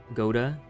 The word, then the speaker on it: Gouda: Pronouncing Gouda like that is much closer to the Dutch pronunciation. Okay. I'll take your word for it. It doesn't feel right. Like, even right now, when I had to pause and correct it in my head. Gouda. Like goated.